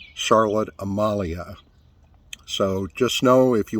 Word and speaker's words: Charlotte Amalie: Saint Thomas is not Charlotte Amalie the locals pronounce it Charlotte Amalia so just know if you want to go to largest city for dinner or for shopping it's Charlotte Amalia prices well folks brace